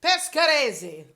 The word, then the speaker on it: Pescarese: Hey Ryan, how do I pronounce Pescaresi? Pescarese.